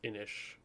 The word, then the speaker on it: Inis: anyways great game uh it's spelled i-n-i-s but pronounced inish because it's Gaelic so we do love